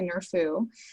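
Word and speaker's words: NRFU: follow-up universe in August I pronounced it nerf uh but I've heard it's actually near foo so the nerf ooh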